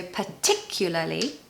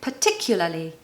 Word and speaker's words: particularly: life easier right so the stress is on the second syllable so particularly and the last two syllables are La li la Li so particularly particularly particularly I challenge